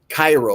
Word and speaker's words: Cairo: They don't like when people say Cairo, like Egypt. It's Cairo, Illinois. Cairo, not Cairo, Cairo.